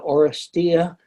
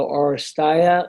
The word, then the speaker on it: Oresteia: to pronounce the trilogy the orestea is the way I said the orastaya is the way some classicists say it the orastea is the way some other classes that say it and the orastaya or maybe aurorescia is another one so anyway there's no there's no agreed upon pronunciation so however you pronounce